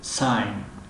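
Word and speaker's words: sign: اگر در بین حرف های آی و ان آید، مثل ساین، علامت، رمز، نشانه، امضا کردن.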